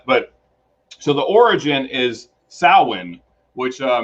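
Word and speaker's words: Samhain: so the origin is Sinn which uh many people pronounce Sam Hayne but that's not the proper pronunciation um and so it's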